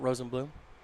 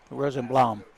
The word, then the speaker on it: Rosenblum: levi rosenblum not rosenbloom rosenblam got it got it got it got it again one of those emphasis on the right syllables first pitch is just